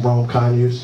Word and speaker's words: Rome Conyers: that stuff so um everybody always says my name wrong and nobody knows how to introduce me so um you know I'll tell you I'm Rome kany you know or line